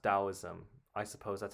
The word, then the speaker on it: Taoism: I I would have thought it would be Oh, taoism, but it's pronounced dowoism.